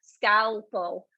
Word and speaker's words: scalpel: it but you're not it is in there scalpel it's funny that you guys are we're doing pronunciation with my voice like this i hope